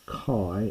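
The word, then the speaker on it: καί: so we'll see the word for and is kai in classical Greek but by new testament times it's probably more like K as in modern Greek.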